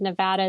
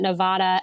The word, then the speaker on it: Nevada: as a sidebar that you said Nevada it's the correct way not Nevada as some politicians like to go in and say it wrong good job um but